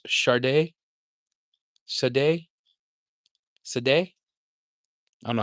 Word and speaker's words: Sade: And if you mean the artist shade is pronounced Sade, Sade, Sade.